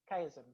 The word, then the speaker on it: chiasm: So CHIASM. Chiasm. Not schism. Chiasm.